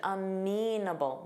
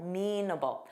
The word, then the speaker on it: amenable: Notice that pronunciation, amenable, amenable.